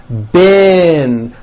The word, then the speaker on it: been: sound however this word b-e-e-n spelled with a double e is pronounced with a low a sound bin like in the word hit okay even though it's